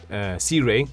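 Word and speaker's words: Sirui: or lava or the suray Sea Ray actually that's how they're supposed to be pronounced my I have a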